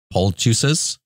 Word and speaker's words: poultice: And this is the word that I was looking for, the poultices? Poultices? Poultices? Is that how it is pronounced?